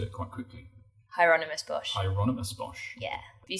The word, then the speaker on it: Hieronymus Bosch: Hieronymus Bosch. You said it quite quickly. Hieronymus Bosch.